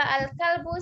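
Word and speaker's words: الكلب: Tuh, hati-hati ya antara al-kalbu sama al-qalbu. Kalau al-kalbu anjing, kalau kalbu Hati. Hati. berarti harus berhati-hati antara pengucapan kalbu sama kalbu ya, karena artinya sangat jauh.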